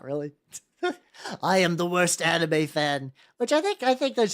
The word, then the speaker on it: anime: It's like, I must use correct Japanese pronunciations, but I also it's manga, not manga. But also I say anime, which it's supposed to be anime. It's I'm fucked.